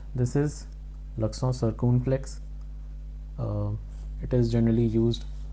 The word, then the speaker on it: l'accent circonflexe: This is l'accent circonflexe.